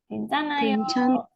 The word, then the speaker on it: 괜찮아요: Ini bacanya Gwen hanya naik ke atas. Ya. Atau nggak perlu dibaca ya. Kalau di tengah nggak dibaca. Yang dibaca huruf N-nya saja. Jadinya N-nya naik. 괜찮아요. 괜찮. N-nya na요.